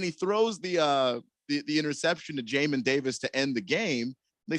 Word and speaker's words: Jamin Davis: Jamin Davis is how it's spelled Jamin, and it's way cooler if it's Jamin. Its name is pronounced Jamin Davis.